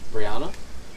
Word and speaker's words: Brianna: same spelled the same ours is pronounced Swedish Brianna um off of Anna